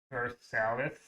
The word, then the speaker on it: Versailles: There's a city in Ohio named Versailles, and it's pronounced Versailles.